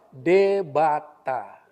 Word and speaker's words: Debata: Debata. Sebetulnya itu dewata. Karena logat Sumatera Utara itu kan berat. W itu dibacanya B, debata gitu.